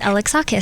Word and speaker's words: Alexakis: to let you know it's pronounced alex acha so much so if